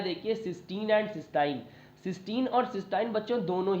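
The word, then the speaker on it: cystine: दूसरा मैंने इसका प्रोनाउंसिएशन सिस्टाइन लिख दिया है।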